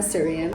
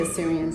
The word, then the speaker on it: Assyrian: is and who the Assyrians are first of all it's spelled asss y r i a n a lot of people mistake it with Syrian but we're a Syrian um so Assyria I